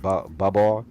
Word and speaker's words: Babar: and and Babar, the elephant.